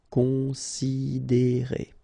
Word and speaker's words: considérer: Considérer, okay, same thing here. You get this accent aigu, and then the sound is E. Considérer.